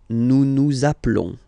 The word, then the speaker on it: appelons: So let's pronounce the whole thing again. Nous appelons. Nous appelons. Okay, final s doesn't exist.